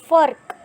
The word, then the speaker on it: फ़र्क: तो नुक्ता वाला जो शब्द होता है उसका उच्चारण फ़र्क मतलब जो नुक्ता जो शब्द होता है उस पे हमें थोड़ा ज़ोर देकर बोलना होता है, फ़र्क।